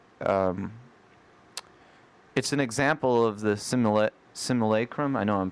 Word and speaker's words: simulacrum: It's an example of the simulacrum. I know I'm pronouncing that wrong. Simulacrum? Simulacrum, thank you, which is sort of a transcription of another thing.